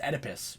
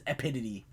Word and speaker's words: Oedipus: __ ] funny but he mispronounces oedipus he says he says epididy complex i think so it